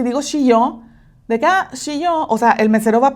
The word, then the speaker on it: shio: Pues resulta que sal en japonés se dice shio. Okay, te lo voy a poner aquí shio. Pero si la llegas a pronunciar mal, así tantito y decir shió, eso significa muere.